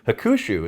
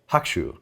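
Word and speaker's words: Hakushu: was kevin yeah uh the middle you in hakusho is almost silent yeah just just a hint of a pronunciation uh it should sound more like hakshu than hakusho uh there's not an exact english equivalent anyway keep up the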